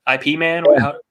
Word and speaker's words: Ip Man: IP Man?